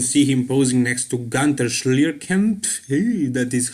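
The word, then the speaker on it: Günter Schlierkamp: here you can see him posing next to gunter schlierken that is how you pronounce his german name but yeah gunther was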